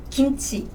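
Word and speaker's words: 김치: Korean G sound is a bit tricky though, because this Korean G sound is between English G and English K, like K. For example, kimchi, kimchi.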